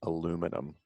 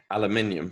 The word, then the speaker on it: aluminium: uh kind of one how do you say aluminum aluminium yes yeah so like there's so many extra letters and syllables in that word yeah the johnny johnny